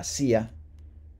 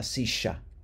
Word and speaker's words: silla: And then la silla means the chair or the seat. And in Argentina or Uruguay, la silla, the double L is pronounced sha, sha.